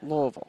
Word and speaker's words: Louisville: That's the way the people from the town say it. They pronounce it Louisville. Like they have a mouthful of marbles.